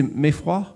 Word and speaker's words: Meyfroidt: Comment est-ce que je prononce votre nom de famille? C'est Meffroy? Voilà.